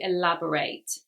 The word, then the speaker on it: elaborate: Now don't confuse this, guys, with the adjective, which is spelt the same but has a different pronunciation. The adjective is elaborate, elaborate, not to elaborate. so they have different pronunciations.